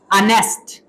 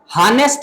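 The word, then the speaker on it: honest: इसी तरह अनेस्ट अनेस्ट हनेस्ट नहीं बोलना। एच जो है यो साइलेंट है।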